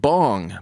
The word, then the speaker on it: Bong: badass vet is dick bong pardon me richard bong b-o-n-g spelled like it sounds like it smokes bong was